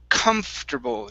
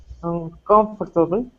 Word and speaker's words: comfortable: is comfortable now it's it's pronounced much differently than how it is spelled okay so take a look in the chat box i'm in the uh the google chat box it's comf terr comforter comfortable try that uncomfortable okay so the uh the o r after the f is not pronounced okay so instead of